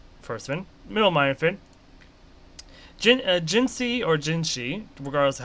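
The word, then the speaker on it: Jinhsi: I'm pretty sure it's still Jinsi, not Jinshi. Even though that's how the game is pronouncing it.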